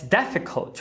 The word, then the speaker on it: difficult: Veja que a primeira é a tônica. difficult. Logo, se temos o U em sílaba átona fraca, vai ser um schwa.